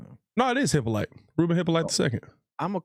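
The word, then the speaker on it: Hyppolite: No, it is Hippoly.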